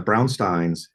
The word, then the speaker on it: Brownstein: um and so and the Brownstein it rhymes with Frankenstein by the way Brownstein um or a mug it's a Brownstein Wesley doesn't interfere with gameplay at all.